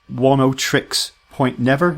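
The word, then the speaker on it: Oneohtrix Point Never: help me out here how am i pronouncing whoa no tricks point never is that right yeah that's perfect whoa no tricks point never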